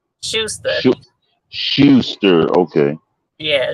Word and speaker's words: Schuster: How you Oh, pronounce the company name? Schuster. Schu- Schuster. Okay. Yeah, Schuster.